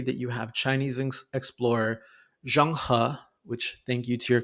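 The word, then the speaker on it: Zheng He: It's between 1405 and 1433 that you have Chinese explorer Jang Ha, which thank you to your classmate who helped me learn how to pronounce that.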